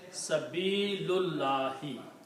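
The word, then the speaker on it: سَبِيلِ: And when we combine reading these together we do not pronounce this alif here. We pronounce sabili.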